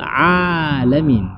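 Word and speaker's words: العالمين: Maka bacaan yang benarnya adalah alhamdulillahi rabbil alamin. Jadi alamin, ain itu diletakkan di kerongkongan bahagian tengah. Alamin. Nah, bagaimana sensornya kita tahu bahwa ini masuk atau tidaknya ke dalam hidung? Maka boleh tutup hidung.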